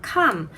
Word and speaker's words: calm: 자, L 소리 안 납니다, 여러분. calm입니다. 그냥 calm. L이 없다고 생각하시고 calm 이렇게 발음해 주세요.